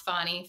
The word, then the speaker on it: Fani: including Trump have argued fonny Willis I'll pronounce it how she wants it to be pronounce fonnie Fanny um that she has